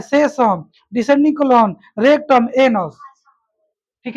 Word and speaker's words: cecum: देखो इसमें एनसीईआरटी में बस क्या लिख दिया है ना, है स्पेलिंग का है सेशन का, CE CECON, सेसम, CECUM, CECUM सेसम, है ना, सेसम कोलोन है।